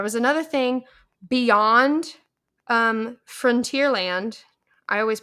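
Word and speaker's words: Frontierland: land Frontier Frontier Frontier yeah like front like the front It's the final frontier front like the front of something Frontier land I don't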